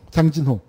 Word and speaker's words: 장진호: 장전호, 장진호. 그게 이제 저 일본 지도를, 일본이 만든 지도를 영역해서 그 일본식 발음으로 되어 있는데 저 초진이라는 제목으로 책이 미국에서 수십 권이 나와 있습니다.